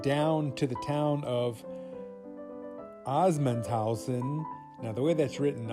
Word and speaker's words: Assmannshausen: Assmannshausen.